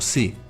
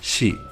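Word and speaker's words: 시: Otro caso especial es la sílaba shi, que no se pronuncia como si, se pronuncia como shi.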